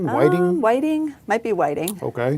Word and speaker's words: Whiting: that's how it's pronounced witting Whiting Whiting might be Whiting okay we have a Whiting Indiana nearby so I'm going with Whiting okay all right I'll